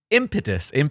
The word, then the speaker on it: impetus: It's generally the first syllable, British English, impetus, I don't know, or no syllable stressed, those pesky American independents.